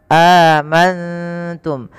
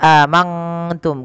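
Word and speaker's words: آمنتم: ta ikhfa cara membacanya nunnya samarkan kepada huruf ta amantum bukan hanya amantum kalau mangtum maka dia berubah daripada makhrajnya kemudian mim mati bertemu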